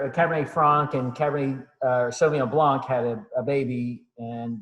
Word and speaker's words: sauvignon: the cabernet sauvignon uh pronounced sauvignon people can't say cab sab that's that's not right um so the cabernet